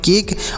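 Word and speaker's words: cake: तो इसे क्या पढ़ेंगे तो सी से पढ़ेंगे क ए से एक की मात्रा का उच्चारण करेंगे और के इ से क पढ़ेंगे तो इसे पढ़ेंगे केक और ये लास्ट में ई है इसे नहीं पढ़ेंगे क्योंकि हमने बताया लास्ट में अगर ई होता है तो उसे नहीं पढ़ा जाता है तो इसे पढ़ेंगे केक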